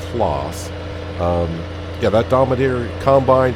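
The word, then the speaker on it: Claas: for the class or class dominator i would say class but i think they pronounce it clause um yeah that dominator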